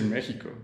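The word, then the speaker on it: México: Maybe I should say Mexico. That's the way we pronounce it here, in Spanish at least.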